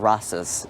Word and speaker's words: Rastus: If you Google it, you'll see photographs of her with this monkey called Rastus. Is the monkey's name? How do you spell it? Like Rasta, just with an S at the end.